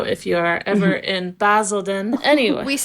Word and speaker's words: Basildon: - Okay, they filmed this scene in Basildon Park in-- - (correcting pronunciation) Basildon!